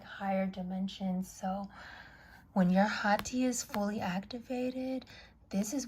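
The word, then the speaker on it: ḥꜣtj: The Hati, which is the Hat, is spelled H-A-T-Y, but the A is signified as a 3 backwards, and it's Hati.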